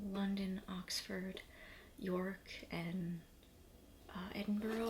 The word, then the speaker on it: Edinburgh: Oxford York and uh Edinburgh I think is how you pronounce it not Edinburg um oh there's something